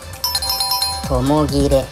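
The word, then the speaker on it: 共切れ: 正解はともぎれ。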